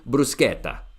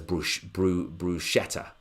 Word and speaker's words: bruschetta: that begins with B-R-U-S-C-H, which I think in Italian would be bruschetta. But here in the UK, people pronounce it as bruschetta or bruschetta.